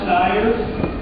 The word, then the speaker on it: Styres: it up and found out that it is pronounced Styres, and what it refers to is a special